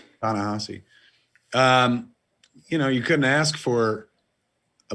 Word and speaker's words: Ta-Nehisi: Ta-Nehisi.